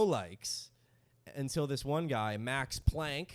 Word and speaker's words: Planck: until this one guy max planck max plunk they pronounce it plunk but it's spelled p-l-a-n-c-k he's the editor of the most important physics journal in europe max pluxum max plunk plucks him one of